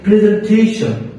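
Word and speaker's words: presentation: কয়েকটি উদাহরণের মাধ্যমে যদি আপনারা দিই, জান বলতে পারেন যে প্রেজেন্টেশন।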